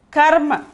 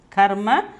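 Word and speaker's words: कर्म: The ra is only a curve above the letter. Above the letter, that is ir plus ma, irma. The word is, see here, karma. Karma. Karma. Pronunciation is karma. The meaning is action. The meaning is action. The ra becomes curve when it joins to these letters.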